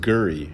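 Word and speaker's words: K'gari: This traditional owner, who called himself Willie, was gracious enough to welcome us to his country, pronounced Gurry in the native language.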